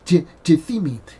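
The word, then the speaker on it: τίθημι: Now that word laid is the word in the Greek language, is the word tithemi. Tithemi, okay, is a funny word in the Greek language, is tithemi, and it's spelled T-I-T-H-E, T-I-T-H-E-M-I.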